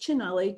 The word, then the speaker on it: Cinelli: The Cinelli Virus, and I'm not trying not to do spoilers, it's pronounced Cinelli.